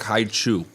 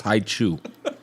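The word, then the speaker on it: Hi-Chew: my birthday is coming up and i like hai chu i also wear a size 13 shoe which rhymes with hai chew my favorite flavors are strawberry apple and grape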